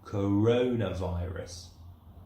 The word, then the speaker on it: coronavirus: So in English, the coronavirus is coronavirus. Corona. The accent is here.